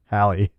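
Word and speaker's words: Halle: That could go, honestly, if she had a body like Hal Berry versus, Who? oh, Jesus Christ. Hal Berry. Hal Berry? She's Hal transgender. Berry? She's transitioning. All right, how do you say it? Hallie.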